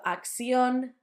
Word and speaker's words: acción: For us, it sounds like th. It will sound much easier once you see the words. Acción, dirección. I've told you before that a third sound can be substituted for a s. So acción, dirección, completely fine.